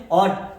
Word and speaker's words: ought: ऑट।